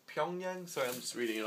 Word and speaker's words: Pyongyang: I believe it would be pronounced Pyongyang.